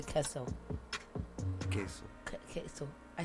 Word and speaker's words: queso: I say it like a redneck. I gotta say it less hard like that. Like queso.